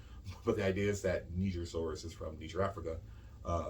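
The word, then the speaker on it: Nigersaurus: it makes sense um this next one is pronounced neiger well actually i've heard this say my american tongue our texas tongue says uh niger silvers but it's perhaps neither people from there have told me it's pronounced nigeria and i'm probably thinking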